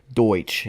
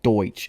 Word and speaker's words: Deutsch: And then lastly, want to give a huge shout out to uh Deutsch. And yes, I'm saying it right. Okay, let's just address it. Yes, it's called Deutsch.